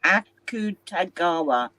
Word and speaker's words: Akutagawa: I also read some Roy and Suki Akutagawa. How do you pronounce it? Akutagawa.